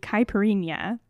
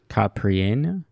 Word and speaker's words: Caipirinha: But today we're going to be making the Caipirinha, and that is a correct pronunciation. Last week was wrong. I checked it, and this is now correct.